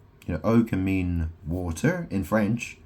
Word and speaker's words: eau: O can mean water in French. EAU is pronounced O, and it means water.